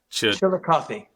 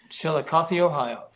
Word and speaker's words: Chillicothe: and I can't for the life of me pronounce the one in Ohio. Chillicothe. Chillicothe? Yeah. Chillicothe. Chillicothe, Ohio.